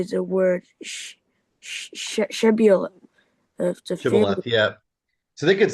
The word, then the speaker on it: Shibboleth: The Ephraimites physically is unable to produce the sh sound, as would instead say Sibboleth.